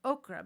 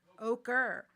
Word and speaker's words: ochre: I've been saying okra, but I don't think you say it as okra. Red. How do you say it? Ochre.